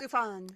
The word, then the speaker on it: Sufjan: Sufjan Stevens. I'm going to guess that. Sufjan Yes.